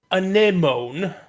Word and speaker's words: anemone: So Baronade's title is Bioelectrics Anemone. I don't know how to pronounce Anemone.